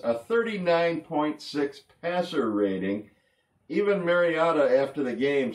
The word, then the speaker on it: Mariota: The Tennessee Titans quarterback, a fellow by the name of Marcus Mariota. Roger Goodell pronounced his name Mariotto at the NFL draft.